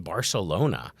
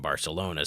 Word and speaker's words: Barcelona: Do you say it like you see it on TV like Barcelona? Barcelona. Well, in Spain they do the lisp. So when there's a C next to an E or an I, so like Barcelona, they would do a TH sound.